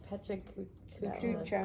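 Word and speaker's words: PechaKucha: I just want to do the one that says, how do you pronounce this one? Chuka. Pechacucha.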